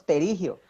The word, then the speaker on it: pterigio: suena porque siempre decimos pterigio pero se escribe con una p antes de t el pterigio es un